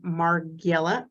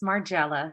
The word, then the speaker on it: Margiela: Giorgio Armani, Ralph Lauren, Maison Margiela. I think I butchered that one. I'm sorry. It's okay. It's Margiela.